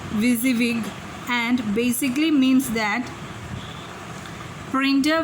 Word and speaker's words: WYSIWYG: It is pronounced WYSIWYG and basically means that printer will print what you see on your monitor.